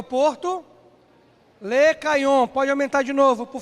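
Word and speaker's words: Lechaion: Le Caillon. Pode aumentar de novo, por favor. Tá aí, olha. Se escreve assim.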